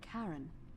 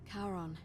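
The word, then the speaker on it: Charon: it's just as you described it only your pronunciation is a little off the name you heard wasn't Karen it was C h Caron o-n as in the fairy man of the Dead karon who in exchange for the right coin helps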